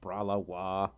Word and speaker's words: Bralawa: Bralawa donated $2 and says it's pronounced Bralawa.